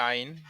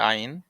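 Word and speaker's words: عين: ইনশাল্লাহ আমরা বুঝে যাব আইনের উচ্চারণ আছে আইন হলকের মাঝে হতে গলা চেপে আদায় হবে আইনটা একটু যেমন ওয়ালা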